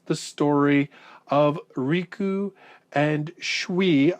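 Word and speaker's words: Schwi: And so Tet relays the story of Riku and Shui. I think I'm pronouncing that right. It's S-C-H-W-I. Shui.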